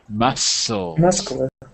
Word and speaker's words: muscles: Nope, there's no k. The C is silent. Muscles.